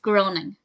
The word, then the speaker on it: Groening: Oregon nor Massachusetts and it's definitely pronounced groaning because Matt Groening's name is mentioned he was from Oregon and Homer said groaning so to answer the question if is it graining or groaning according to this episode